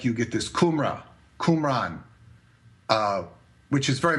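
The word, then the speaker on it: Cymru: if you see the how the Welsh pronounce their own place I can't even remember it now it's like kumra kumra it's like kumran it was known as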